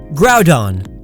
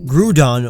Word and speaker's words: Groudon: Groudon, not Groudon or Groundon.